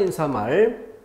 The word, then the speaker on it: 인사말: 발음에서 주의해야 될 것, 머리말, 인사말. 이것은 니은음을 넣어서 발음하는 것이 자연스럽다라고 잘못 생각하는 경우가 있다면 반드시 마킹해서 내가 틀릴 위험성이 높은 단어다.